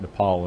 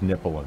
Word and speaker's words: Nepal: point about thinking that Nepal and Bhutan which incidentally he also mispronounced as nipple but our part of